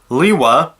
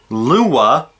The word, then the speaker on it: Lewa: The 3 pronunciations are Liwa, personally pronounce it this way, Lewa, or Luwa. I'm going to put that to rest. Greg Farshty said on a TTV interview that every pronunciation for Liwa is canon. So if you pronounce it one way, it's canon.